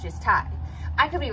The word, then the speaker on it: Ty: the correct pronunciation, but the reason I pronounce it Ty is because it's after Ty Warner, and his name is pronounced Ty. And the second reason I pronounce it that way is whenever I see it written in articles, it's not T-Y, capital T, capital Y. It's capital T, lowercase y, meaning it's not an acronym, it's just Ty.